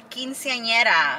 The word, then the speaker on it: quinceañera: The quinceañera.